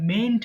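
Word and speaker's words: mayn't: নট কে একসাথে আমরা মেইন্ট বলছি এবং এটা ভুল করে অনেকে এন্ড উচ্চারণ করে না এটা কিন্তু মেইট বলে ফেলে অনেকে মেইট না কিন্তু এটা মেইন্ট আমি একবার পড়ছি খেয়াল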